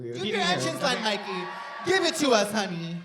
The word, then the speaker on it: Myki: before the recording and he called me Mickey. So I was like Mickey. Where is Mickey? Where is Mickey? And I was like, "Okay, now I have to say my name in my entrance so people just get it. They get it right off the bat." So I walked in like this. I was "Hi, I'm Mikey, but you you can call me Mikey."